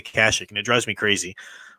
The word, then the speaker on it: Kashyyyk: how do you say Chuy's homeworld you say Kashuk or Kashyyyk Kashyyyk I say Kashyyyk to accepting clone war is Knights of the Old Republic all those games they say Kashuk and it drives me crazy but I think